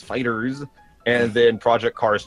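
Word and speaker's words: FighterZ: But they showed off, in order, Ni no Kuni 2, Dragon Ball Fighters, I think is how it's pronounced. It's not Fighter Z, it's Fighters.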